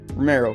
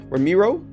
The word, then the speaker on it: Ramiro: recruits his imprisoned brother, Romero, who's the main character that you guys play as. I just realized I'm pronouncing his name wrong. His name is actually Ramiro.